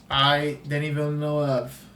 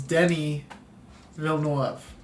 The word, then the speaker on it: Denis Villeneuve: Denis Villeneuve. And I'm pronouncing that right. He's French-Canadian. It's not Dennis, it's Denis Villeneuve.